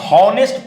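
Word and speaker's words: honest: हैं सुनो यहां पे ध्यान से देखना हम ऑनेस्ट पढ़ रहे हैं देखो ध्यान से ऑनेस्ट पढ़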